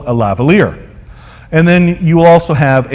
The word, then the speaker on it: lavalier: that's a stick microphone you also have a lavalier that's how you pronounce that not lavalier i've heard people try and pronounce it lavalier but it's actually lavalier a lavalier is the kind of microphone that